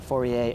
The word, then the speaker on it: Fourier: called fourier analysis and i believe he was french that's why we don't pronounce the last r fourier analysis uh and just